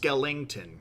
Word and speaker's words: Skellington: Also, it's pronounced Skellington, Shikari.